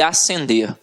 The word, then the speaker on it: ascender: vamos para a próxima eu tenho a acender e ascender a pronúncia é a mesma então muito cuidado ó